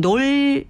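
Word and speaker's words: Knole: 웨스트 색빌 가문이 어 영어로는 KN O이기 때문에 놀이라고 읽어야 되는데가 무음이 돼서 그냥 놀이라고 부르거든요 그 놀 저택이 있어요 놀 매너라는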